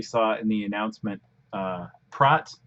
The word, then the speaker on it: Praat: in the announcement uh prot looks like pratt that's dutch when it's pride i'll probably just accidentally call it pratt again because that's usually how i pronounce it but so we'll use